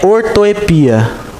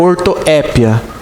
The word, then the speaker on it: ortoepia: forma correta uma palavra é ortoepia ou ortoépia. Tanto faz.